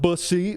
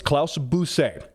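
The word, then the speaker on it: Klaus Busse: bus she told me the correct way to pronounce it for one it's not busy bus it's bu yeah I know I know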